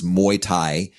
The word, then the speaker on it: Muay Thai: And yet now, let me say if I pronounce this correctly, Muay Thai. Muay Thai, yes.